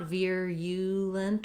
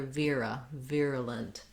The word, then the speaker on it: virulent: Then the letter U just has a schwa sound in this word. So not virulent or virulent, but rather virulent. So you might even think about it like virulent. I rewrote it here with the letters UH. I usually try to use that for that unstressed schwa, so you can think about it really sounding like It's very short and reduced vowel.